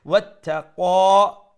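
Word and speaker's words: واتقى: Wattaqa, তার উপরে শাদ্দা double letter double sound এবং ক মুঠা করে উচ্চারণ করব এক আলিফ লম্বা করব যেহেতু মধ্যে আসলি তাবিঈ وصدق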